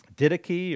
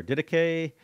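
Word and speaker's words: Didache: post-tribulation theory the um didachy or dedicate however you want to pronounce it there's about five different pronunciations of this it's an early church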